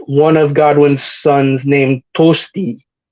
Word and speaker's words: Tostig: of Godwin's Sons named tosti you might know him as tostig but that's not how you pronounce his name is uh because Old English is funky that way um yeah and uh